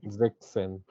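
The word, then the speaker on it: sechzehn: हाँ, तो हो जाएगा जेक्सन, यहाँ पे एस कट ऑफ हो जाता जेक्सेन, जेक्सेन, है।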